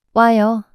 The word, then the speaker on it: 와요: 가요, Next, in the case of 오다, and, 아요, the two vowels 오, and 아, are combined and pronounced as one single vowel 와, for a shorter and smoother pronunciation.